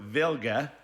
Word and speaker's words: Wilga: the cowling for Draco my will go or vilya is the correct pronunciation since this from Warsaw Poland but in we need